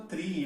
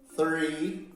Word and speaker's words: three: Three, com a gente fazendo o TH baseado na língua.